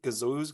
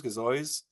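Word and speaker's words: gazeuse: there we go um so we're doing Gazo I don't know if you thought how you say it right Gazo Gazo uh which is like yeah Gazo which is French for effervescent Gazo okay yep got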